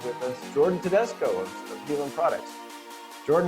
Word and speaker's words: Haelan: So Haelan is, how it's spelled, but it's pronounced Haelan 951.